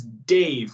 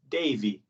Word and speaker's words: Dave: Sometimes it's confusing because my name's Dave, right? But if I go to Brazil, it's not Dave, it's Davy, right?